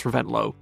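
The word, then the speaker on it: Reventlow: Desta Carlos reuan angiz you would say Lance rento but I know that his father was actually a Danish Aristocrat so it's probably Lance reventlov but yeah Lance revent or Lance rento in America Peter revson John rhods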